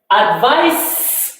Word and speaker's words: advice: Advice with C and the pronunciation advice, meaning to give somebody something or